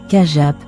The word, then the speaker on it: Chiappe: Jean Chiap, prononcé Kajap, né le mai 1878 à Ajaxo, Corse.